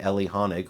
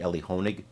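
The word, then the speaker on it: Elie Honig: expert on CNN namely Ellie hanik who I believe is really one of the best out there I'm sorry I said his name wrong it's actually Ellie honig but he's one of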